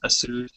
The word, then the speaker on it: Asus: Asus.